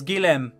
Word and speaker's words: Guillemette: Apparently it's Guillem. I appreciate everyone who took French classes at some point, but a French person on Twitter says it's Guillem. Or Guillem, as it's pronounced on the Translate program.